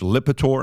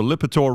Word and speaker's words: Lipitor: listen, excuse my English being my fifth language, Lipitor. Am I saying it correctly? Yeah, it is. Okay, all right. So Lipitor, Rob, I'm going to send this to your MacBook.